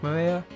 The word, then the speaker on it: Maria: Of course, this is pronounced Maria.